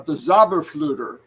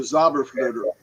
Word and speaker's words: Zauberflöte: called the Magic Flute, which was the Zauberflöte, which that's how you say it in German, the Zauberflöte. Anytime you have an opera, there's an overture that comes before the opera begins.